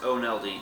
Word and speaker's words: Oneldi: Okay, well, my first name is pronounced Oneldi, so I'm sorry, Oneldi.